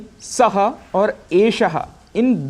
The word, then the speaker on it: एषः: यहाँ पर श, ये जो मूर्धन्य इसका उच्चारण है, मूर्धन्य में हमारी जिह्वा ऐसी रोटेट होती है जिसको रेट्रोफ्लेक्स कहते हैं। एषः, एषः।